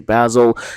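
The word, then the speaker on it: Basel: one Eurovision 2024 um the host city is going to be basil I understand there's multiple pronunciations but I say basil and the host arena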